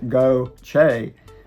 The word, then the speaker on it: Gautier: Gautier, spelled G-A-U-T-I-E-R and pronounced as Go-Che, is geographically more spread out than Ocean Springs, with neighborhoods stretching along Highway 90, wooded areas, and golf communities.